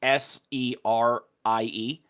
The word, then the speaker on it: Serie: Oh, Saria. Sorry. Saria. That's how you pronounce it, or something close. Okay. Until I hear it, I won't know. It's Serie.